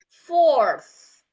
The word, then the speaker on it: fourth: So, okay, when there is a th on that on ending the word, you're going to wear. There's gonna be a sounds like. Okay, so your tongue is going to be in between, a little bit in between the top and the bottom teeth.